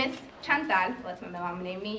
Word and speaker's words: Chantel: Chantel you know because you can't pronounce my name in Spanish right um You can